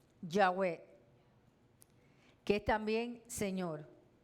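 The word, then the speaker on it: יהוה: que es también señor aparece sin vocales aparece nosotros la escribimos con vocales pero originalmente la palabra yah yah es sin vocal que es yah es como yah no tiene vocal es como así es silencioso es como cuando yahwe como cuando uno respira Entonces es originalmente es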